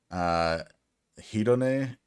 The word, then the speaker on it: Hedone: Hedone, I think is how you pronounce that.